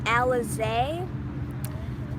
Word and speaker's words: Alizé: you say your name so my name is pronounced alizée so yeah and then